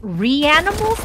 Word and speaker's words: Reanimal: I couldn't tell if I was being memed or not, but I believe it's pronounced Reanimals then? Not Ryan.